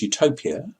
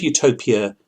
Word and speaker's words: utopia: The word utopia, if you spell it u would mean no place. And if you spelled it eu, it means good place. It would sound the same either way.